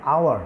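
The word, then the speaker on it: hour: যেমন অ্যান আওয়ার Bhawal sound দিয়েছি, যেমন an honest Bhawal sound. H এর উচ্চারণ আমরা করে অ্যান অনারেবল পার্সন আমরা ভাওয়াল সাউন্ড দিয়েছি, এইচ এর উচ্চারণ করে না।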